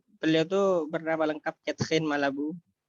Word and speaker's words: Malabou: Uh bernama lengkap vetsin malah Bu bacanya harus ala Prancis yakin enggak ada esnya